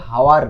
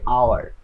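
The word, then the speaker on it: hour: আচ্ছা এখানে দেখেন এই যে শব্দটা আছে এটার উচ্চারণ কিন্তু হাওয়ার না, এটা কি হাওয়ার নাকি আওয়ার, আমরা উচ্চারণ করি আওয়ার।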